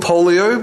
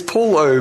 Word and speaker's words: Paulo: had that's from it i get called polio by old people polio yeah it's poor low the o throws them off and